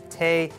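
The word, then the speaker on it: תה: totally hated that so today's word is Tay which is how you say tea in Hebrew so some people are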